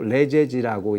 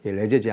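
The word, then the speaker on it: Les Eyzies: 우리가 일상적인 스펠링하고도 좀 다르잖아요.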